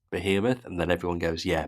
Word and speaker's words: behemoth: It's called a behemoth. That's how it's pronounced.